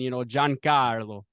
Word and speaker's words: Giancarlo: Like John, like run.